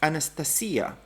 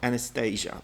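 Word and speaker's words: Анастасия: Anastasia in Russian seems to be pronounced Anastasia. Anastasia. Anastasia. It's not Anastasia.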